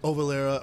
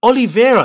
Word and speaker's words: Oliveira: wrong yeah i mean it's a brazilian name cool but it's oliveira it's not that hard isn't it it's like olive oil with vera at the end oliveira is not that difficult to pronounce surely right or am